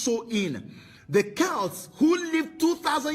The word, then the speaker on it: Samhain: Halloween's origins date back to the ancient Celtic festival of Samhain, pronounced So-in.